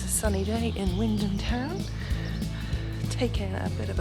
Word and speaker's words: Wymondham: Wymondham, or Wymondham as it's spelt, is the market town we moved to after we left the farm.